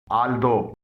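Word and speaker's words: although: थारो, यहां पर भी जी एच से पहले यू आया है, लेकिन ये जी एच साइलेंट है। थारो के मायने हैं मुकम्मिल। आल्दो, यहां पर भी जी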